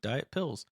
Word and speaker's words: Diat Pills: They said you pronounce it like Diet Pills, which is a German style lager.